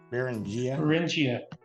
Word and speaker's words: Beringia: But anyway, the theory that has the most widely adopted is the Beringia, and correct me if I'm pronouncing that, Laura, incorrectly. Beringia.